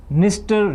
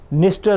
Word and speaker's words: Dniester: Dniester River, D is silent, guys, as you can see, Dniester River.